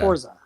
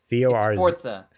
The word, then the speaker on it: Forza: Forza. Forza. Italian. Forza is an Italian word for, and it's pronounced in Italian, Forza, like Forza. But there's no T in there.